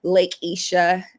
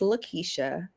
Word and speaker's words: LaKeicha: I'm like, "Actually, it's Lkesha, you know, and if you can pronounce X, Y, and Z, then you can pronounce my name, you know." It's right there. Three syllables.